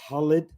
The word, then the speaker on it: Khalid: This is my man Khalid or Khalid in his original pronunciation.